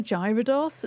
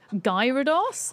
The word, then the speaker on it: Gyarados: It's with a hard G, Gyarados?